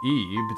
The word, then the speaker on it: Ib: Ib, or Eve, depending on how you pronounce things, it's a puzzle horror game built